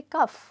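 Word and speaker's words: cough: तरह साउंड कर रहा है तो देखिए इनकी स्पेलिंग में कितना सिमिलरिटी है इसको हम कहेंगे रफ तो क्या हम इसको कहेंगे कफ मैंने बहुत स्टूडेंट्स को बोलते हुए सुना है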